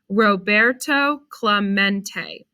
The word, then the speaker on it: Roberto Clemente: roberto clemente was his name and this is pronounced roberto clemente as if to introduce himself roberto smacked the